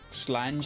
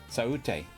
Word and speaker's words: Sláinte: Slange, as they say in Scotland. Which is wrong. It's crazy wrong. Oh, you told me how to say this last time. Saute. Is that alright? Go on. Sorry. Yes, saute. Okay, right, okay, it's close enough.